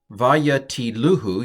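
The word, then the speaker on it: וַיְטִלֻהוּ: I would pronounce it Vayesu et Jonah Vayatiluhu. You've heard of Cindy-luhu. This is Vayatiluhu.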